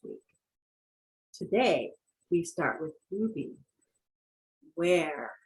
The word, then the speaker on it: ubi: Today we start with ubi, where. How to pronounce that? Ubi.